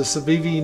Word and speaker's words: Civivi: is pretty cool uh here's a cevivi knife brand trust me i watched a couple of videos on this to pronounce it there's a little